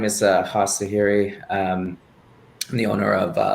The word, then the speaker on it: Hoss: My name is Haas Zahiri. I'm the owner of Dojos, Brazilian Jiu-Jitsu, and kickboxing. The R is pronounced like an H.